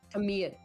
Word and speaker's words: Tamil: Tamil. Arm and hand. It kind of sounds like there's a soft uh on the end.